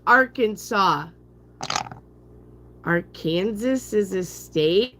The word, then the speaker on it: Arkansas: Anyway, so I went through that bank and they're like, "What's our Kansas?" And I'm like, "It's a state, is it?" And I said, "And it's pronounced Arkansas.